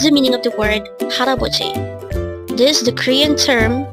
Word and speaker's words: 할아버지: Pronounce it with me. Haraboji. Again, it's haraboji. What is the meaning of the word haraboji?